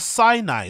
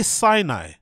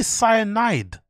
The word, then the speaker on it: Sinai: that a dyslexic thing because this is C Cai or Sinai like you could say Sinai or C or something right but why would you say cyanide what do you guys